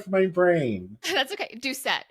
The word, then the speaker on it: Doucette: just completely went from my brain that's okay duet it's it's a hard one to pronounce too so you're good Sarah duet oh